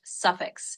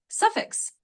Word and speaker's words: suffix: trip thing that word is pronounced suffix. So you just say it like suffix with the emphasis on the suff part.